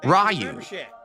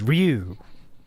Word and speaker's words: Ryu: so there you go Japanese pronunciation of that is Ru one syllable that was very close